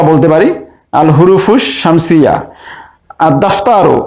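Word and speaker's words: الدفتر: পারি আল হুরুফুস শামসিয়া আদ দাফতারু এখানেও আলিফ লামের লাম উচ্চারণ হচ্ছে না তাই এটিকে আমরা বলতে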